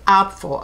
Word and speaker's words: Apfel: she's fantastic you know iris opful i had to look up how to really pronounce her name she's considered a fashion